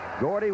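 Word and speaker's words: Guardi: the goal line with Gordy spelled gu a r di pronounced Gordy kicking off and here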